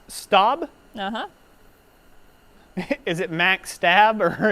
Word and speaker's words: Staub: Is it Max Stab or is it Max Staub? S-T-A-U-B. A-U-B, Staub.